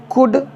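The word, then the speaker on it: could: एल डी हो तो उस कंसन में एल साइलेंट होता है जैसे एस एच ओ यू एल डी शुड सीओ यू एल डी कुड next ड आपका है डब्लू ओ यू एल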